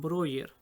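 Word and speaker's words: Breuer: el procedimiento desarrollado por joseph brewer algunos lo pronuncian broyer quien animaba a sus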